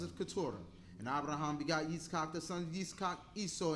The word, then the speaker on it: Yitzchak: And Abraham had Yitzchak, which is the pronunciation Hebrew, Isaac, and then Ishmael, which is Ishmael.